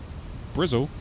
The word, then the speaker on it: Bristol: Brile, that's how the locals say Bristol.